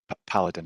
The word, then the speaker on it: Paladin: the appeal by Paladin, is that the right way to say it, or is it Paladin? Or Paladin? It's Paladin, ma'am.